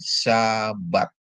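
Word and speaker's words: שבת: Di mana sabat itu dari syin dikasih pata dan bet dikasih kamat ya. Jadi bacanya jadi sabat.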